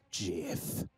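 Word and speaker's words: GIF: hippo and i say it's pronounced jiff can i jam the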